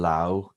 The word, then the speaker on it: Laos: The French took them over, but it's Laos, okay? And I'll be corrected now, and somebody says, actually, the A in Laotian is pronounced with a U. Anyway, doesn't matter, right? It's not Lao.